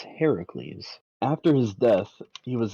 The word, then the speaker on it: Heracles: sure a hundred percent we've got Heracles not Hercules if you pronounce it Hercules you it's Heracles after his death he